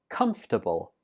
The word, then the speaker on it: comfortable: This word also has a silent syllable. We pronounce this word as comfortable. How many syllables? Right, only 3.